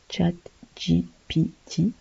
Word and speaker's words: ChatGPT: chat GPT alors déjà on le prononce à l'ex à l'anglaise chat GPT qui veut dire generative